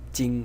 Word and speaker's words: 經: in this character because Jing is the pronunciation of the character as a whole and Jing is the pronunciation of